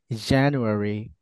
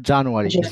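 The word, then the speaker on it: January: না জানুয়ারি এই যে এ সাউন্ড এখানে নট জা খেয়াল রাখবেন এই যে বললাম না ওই যে প্রথমে যে এর ভিতরে সাউন্ড আছে এই যে প্যাচাল একটা ই দেখছেন মাঝখানে এটা হচ্ছে এ সাউন্ড এটা কি সাউন্ড বলেন তো নট জা সো আপনারা মনে রাখবেন বলেন জানুয়ারি নট জানুয়ারি জানুয়ারি good জানুয়ারি জানুয়ারি February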